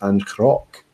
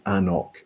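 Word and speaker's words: anCnoc: and told me that the right way to pronounce it was Ancroc. Now that might be absolutely true, but Anok tell you on the bottle that it's Anok, and it's their brand,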